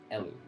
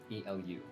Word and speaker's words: Elu: And the farther one, which at least appears to be a little smaller, is called Elu. E-L-U.